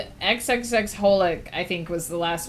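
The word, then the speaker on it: xxxHolic: Fun fact, XXX Holoc is just pronounced Holic.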